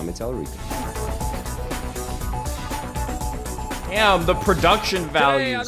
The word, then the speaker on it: Tallarico: Telerico.